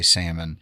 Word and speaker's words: salmon: My favorite one I have is I in the back of the house at Iris I pronounce the L in salmon.